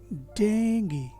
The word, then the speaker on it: Dengue: जैसे इस केस में डेंगू पॉपुलर है, डेंगी जो करेक्ट प्रोनाउंसिएशन है वो उतना नहीं जाना जाता, या बहुत कम लोग होंगे जो इसका सही प्रोनाउंसिएशन करते होंगे।